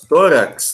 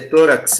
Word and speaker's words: tórax: a palavras ele thorax e vejam bem que a sílaba tônica está na penúltima linha l2v a los tórax nada de torax essa assim como olha